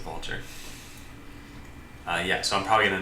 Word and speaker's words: Vultr: There's a service called Vultr, which I'm probably going to use, or rather it's called VaultR. I'm sure they want to pronounce it Vultr.